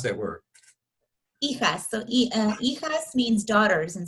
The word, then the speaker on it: hijas: Hi, Juz. I hope I'm pronouncing that right.